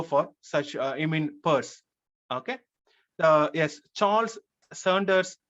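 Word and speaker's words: Peirce: people hardly go for such uh i mean purse okay uh yes charles sanders first dog yes that's good uh is pertz okay the name is pronounced pers so he came up with semiotics so sasha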